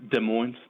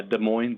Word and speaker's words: Des Moines: The Dem Des Moines? We call it Des here, but yeah, Des Moines, Des Moines, West Des Moines.